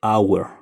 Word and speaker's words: hour: se escribe con h esta H es muda y solamente se dice Hour Por ende le acompaña